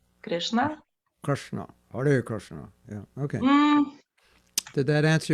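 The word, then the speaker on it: Krišna: How do you say Krishna in Lithuania? Kaip vadinasi Krishna lietuviškai? Krishna. Yeah, I guess we just don't roll the R. The rest is like in Sanskrit. Krishna. Krishna. Hare Krishna.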